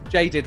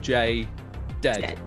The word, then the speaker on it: J:Dead: So it is, now, it's Jaded rather than Jay Dead. Because that's how an American would say, like, Jay Dead, because we usually put our accent on that last syllable, but Jaded. I mean, it's pretty close anyway. No one's going to notice too much. But yeah, Jaded is the way that I would say.